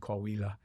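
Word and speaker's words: Coahuila: So that's important for the casual listener to know that in your reference to Chihuahua and Kawila. Got the pronunciation right this time.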